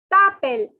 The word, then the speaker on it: t'appelles: T'appelles. So now the S is silent. Guys, S is silent. So it is t'appelles.